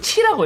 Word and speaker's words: Qi: 이거를 QI라고 하는데 보통 요거를 T라고 읽어요.